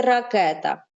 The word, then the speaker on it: ракета: ке та мірон а спробуй вимовити слово так щоб Ми зрозуміли де стоїть наголос здивуйся ти її дуже радий бачити дуже здивований ракета ракета правильно ракета Нічого собі куди падає наголос Кета ні ракета ракета куди буде падати